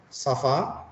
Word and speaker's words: ça va: Jadi komong safa. Jadi c ada di bawahnya seperti ini. Garis itu seperti pembacaan s ya. S ya. Jadi safa.